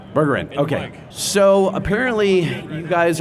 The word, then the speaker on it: Bergeren: is it Jesse Spade, Dusty Pack, and Bergeren? Did I? I'm going to butcher it. You butchered it in slow motion. How did you Close. do that? Burger. What's the correct B. pronunciation? It's Bergerin. Bergerin.